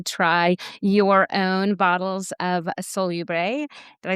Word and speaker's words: Solubrae: 20% off to try your own bottles of Salubre. Did I say that right? Salubre, yeah. Salubre, sorry. I was looking at I didn't understand the pronunciation, so my brain is still catching up.